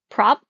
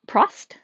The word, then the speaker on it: Probst: His name is John, I think it would be pronounced Prop. I don't know how you pronounce it. It's Probst. Prost? Maybe the B is silent. I don't know. But anyways, voiceover leaves the T silent, so it comes out as probs, which y'all know is short for problems.